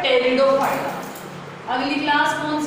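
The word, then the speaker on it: Pteridophyta: हैं इसको, ठीक है, PET से लिखते हैं टेरिडोफाइटा का। तो पर बोला कैसे जाता है, टेरिडोफाइटा, ये दोनों साइलेंट रहते हैं, इंग्लिश की बात है, हिंदी में तो कोई दिक्कत है ही नहीं।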